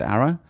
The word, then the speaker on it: ARA: Do you pronounce it ARA?